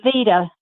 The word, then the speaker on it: vitae: Curriculum vitae, V-I-T-A-E, pronounced vita.